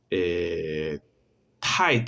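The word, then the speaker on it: 太: Tai, tai, que significa esposa. Sí, fíjense que es un sonido como la T, pero yo exhalo, ¿sí? Ese sonido, tai, tai.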